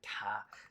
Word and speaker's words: 它: So in the Chinese language, there's three uses of ta. Ta means him. Ta, same pronunciation, means her. And ta means it, as in belonging to something which is not human. And so in regard to, they're all the same pronunciation, all first tone, but they have totally different meanings.